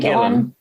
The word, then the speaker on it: Gillan: Ian Gillan.